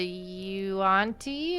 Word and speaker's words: yuan-ti: So if we go under the mountain, we'll deal with the Yuan-Ti, is that how you pronounce it, right?